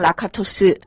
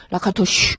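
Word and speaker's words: Lakatos: 분이 라카토시 헝가리 분이라 이분 이름을 제대로 발음하기가 굉장히 어렵습니다 영어 발음은 라카토스 그다음에 그 그쪽 헝가리 오리지널 발음을 하면 저는 못 합니다 라카토슈 뭐 이렇게 발한다고 합니다 그다음에 여기 왼쪽 하단에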